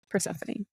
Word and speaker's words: Persephone: Don't actually, is how you say that. No, Persephone.